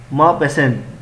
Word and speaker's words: Maupassant: और गायदे मापेसेंट, अब यहाँ पर टी भी साइलेंट है, इसको भी आपने अच्छी तरह से देखना है।